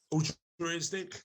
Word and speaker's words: altruistic: Altruistic? Altruistic. Okay. You've got to pronounce the R.